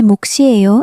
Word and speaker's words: 몫이에요: But when 목 meets a vowel, the second consonant s shifts over and becomes a strong s sound. So 제 몫이에요 is pronounced as 제 몫이에요.